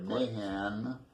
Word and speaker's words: Mahan: And Alan right Mahan, you spell that M-A-H-A-N, kind of like they took the Mick off of McMahon when my, let me turn this off.